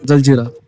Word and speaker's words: जलजीरा: उस वजह से लेकिन इसका ओरिजिनल नाम तो जलजीरा है यहां के लोग उसके प्रोनाउंसिएशन वही करते हैं जलजीरा लेकिन जहां पे लिखावट है जैसे कोई बोर्ड तो जंजरा ही लिखा हुआ है।